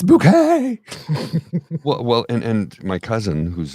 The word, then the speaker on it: Bucket: It's like Hyacinth Bucket. It's Bouquet!